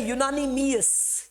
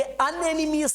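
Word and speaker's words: unanimous: तो यहां पर इस वर्ड को देखिए, ये वर्ड है यूनानिमियस, ये वर्ड है यूनानिमियस, यूनानिमियस, ये अनएनिमियस नहीं है।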